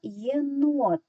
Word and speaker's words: єнот: з двох складів тепер визначаємо наголос який наголошений склад гукаємо єнот найдовшими тягнемо звук о Він знаходиться в другому складі тому другий склад є наголошеним Тепер будь ласка скориставшись